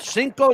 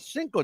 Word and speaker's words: Cinco: So we've got on May 5th, Cinco de Mayo. Yes. And I had to learn how to say it. I spelled it Cinco.